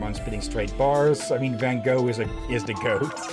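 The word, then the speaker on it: Van Gogh: I think I remember someone who tried to say Van Go accidentally said Van Goat. Okay. Oh, that was mispronouncing.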